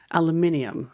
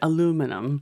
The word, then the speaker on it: aluminium: same language, same word, same spelling, but the pronunciation is different. What's that? Adumi hoiru. In English, British English, aluminium. Aluminium. And then Americans will say aluminum.